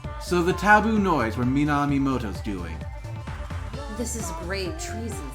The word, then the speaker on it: Minamimoto: So the taboo noise were Minamino... That name. I know, right? It's one syllable too long. Yeah. So the taboo noise were Minamimoto's doing.